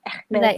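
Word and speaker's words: Hermès: it's like no, it's how do you pronounce it in French? Like Hermes or something like Hermes. Hermes. Like in French. It's very like with the R like that. It's very hard.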